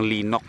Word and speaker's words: Linek: sa magindanao Del Norte yung linac ang spelling talaga niyan is linek kailangan mong ah bigkasin na parang linoc Pero in between na parang mix yung O tsaka e l ganyan na lang